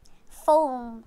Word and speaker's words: phone: It yung so we pronounce the word phone as like F, phone, phone. So we pronounce the word phone as like F.